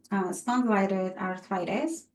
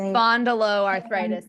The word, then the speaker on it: spondyloarthritis: Those with spondylitis arthritis, if I said it right, so it's the Spondyloarthritis.